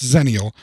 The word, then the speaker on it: Xennial: the term kind of came from and uh ziniel is a term and though it's spelled with an exit it's pronounced zenial it is a term that is now used